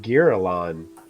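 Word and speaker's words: Girallon: It's pronounced Girolon, Okay, I'm sorry.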